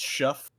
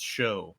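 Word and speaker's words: Shough: I feel like if you're in Britain it's shuff and here it's show.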